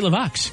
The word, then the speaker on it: LeVox: you wanted to but didn't say it right it's Gary laox Gary Wayne Vernon is in fact Gary levox is his stage name